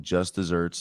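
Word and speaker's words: just deserts: The punishment that one deserves, despite its pronunciation, just desserts, the one with one S, is the proper spelling for the phrase, meaning the punishment that one deserves. The phrase is even older than dessert. Using an older noun version of dessert means deserved reward or punishment, which is spelled like arid land.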